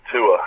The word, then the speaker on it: Tua: It's Tua, yeah.